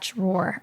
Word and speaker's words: drawer: All right, so this next topic is all about that drawer underneath your stove, or I say draw, but... You say draw? Yeah, it's the Bostonian in me.